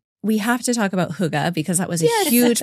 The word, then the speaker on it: Hygge: I think they have a little more like huh going on, like Hygge, but what do I know?